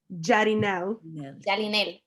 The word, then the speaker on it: Jalinel: Jalinel. Jalinel With an L.